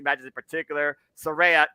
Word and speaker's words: Saraya: Saraya, keyword folks, is how you say her name.